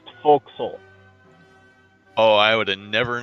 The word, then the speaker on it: forecastle: it's loading in wait what is it spelled forecastle it's pronounced vocal oh I would have